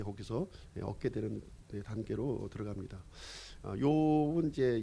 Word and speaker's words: 욥: 사람의 이름으로 발음할 때는 이제 job으로 발음하는 것이고요. 사람의 이름이 아니라 이제 JOB, 이제 직업이란 뜻이 있어요. 직업으로 발음할 때는 job 이렇게 발음하는 겁니다. job. 우리는 이제 이 욥기를 읽을 때는 이제 영어로 JOB 이렇게 돼 있는데 job 이렇게 읽으면 안 돼요. job 이렇게 job으로 읽어야 되고, 우리말로는 욥 이렇게 되는 겁니다.